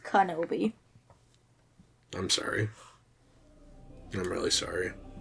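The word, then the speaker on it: Kenobi: not going to let us go it's actually pronounced kanobi i'm sorry i'm really sorry you should be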